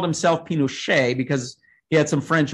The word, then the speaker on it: Pinochet: augusto pinochet um who whose name is pronounced in french even though he was even though he was chilean it's a long story everybody some people call him pinochet but actually he called